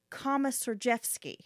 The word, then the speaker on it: Komisarjevsky: His name is Joshua Komisarjevsky. Oh, so this is the bad guy, right? Yes. Yeah, well, so we're going to get into him. I'll be calling him Joshua just because Komisarjevsky is a name I probably will end up